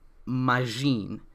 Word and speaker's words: Magine: my favorite um kikanoid so this is zenkai majin i'm a little confused on the spelling because